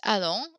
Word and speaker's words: allons: You hear the liaison there. We now pronounce the S at the end of these two words because the next word begins with a vowel. Nous allons, vous allez, ils, elles vont.